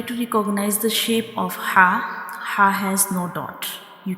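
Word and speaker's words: ح: Our throat has three portion bottom, middle and upper portion and ha is pronounced from the middle part of the throat.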